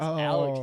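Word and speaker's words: ALEKS: and a s to the end and it's pronounced Alex test so you know that is a insane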